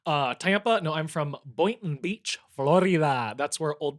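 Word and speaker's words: Boynton: No, I'm from Boon Beach, Florida. That's where old people who can't afford Boca Raton go to die. Spell it. Boon.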